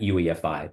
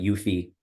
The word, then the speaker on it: UEFI: the UEFI forum and that's actually how you pronounce that UEFI there are some people that call it UI which is also acceptable but uh the UEFI forum and simply put the ufi form you can think